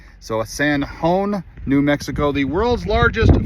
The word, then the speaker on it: San Jon: We have ourselves in San Juan, and Juan is spelled J-O-N. So San Juan, New Mexico, the world's largest flip-flop.